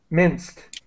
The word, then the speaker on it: minced: Minced. All right. The e is silent in pronouncing. Yes, minced. The ed is pronounced in this word like a t, minced.